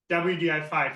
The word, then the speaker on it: wdi5: name for it and we coined it vdi5 exactly for the pronunciation reason okay you know if you have to say wdi5 all the time sooner or later as German speakers at least you know they're gonna hop on their way into well they tr5